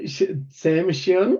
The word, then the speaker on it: exemption: Um tio n um often times makes a shun. Um nation um constitution. So, it's a shun sound and then x e ex um and then s. So, x shun.